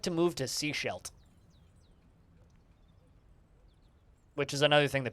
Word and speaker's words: Sechelt: Sechelt, not seashores. Sechelt. That's how it's spelled. Sechelt.